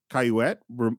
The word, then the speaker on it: Cayouette: We also meet Candy's sister, which is Laura Lee Cayouette, rhymes with bassinet.